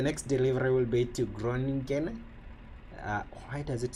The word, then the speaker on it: Groningen: I forgot the pronunciation. Groningen. Yep, that's Groningen.